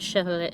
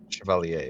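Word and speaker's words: Chevalier: Deluted Chevier Chevier. Oh my god, I can't pronounce the word. Shiovalier. Shavalier.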